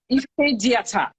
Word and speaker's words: Ifediata: I don't want, yeah, Ifediata. Is Yeah. that the way you pronounce it?